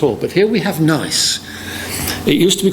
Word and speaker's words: NICE: the acronym and then decided that it was unpronounceable and everybody still called it NICE, so they've left it as being called NICE.